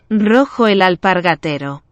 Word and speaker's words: Rojo el Alpargatero: to say it myself, I'm going to say it, Rocco Al, the middle part gets me, Pargatero. Let's see if I've said it right. Rojo el alpargatero.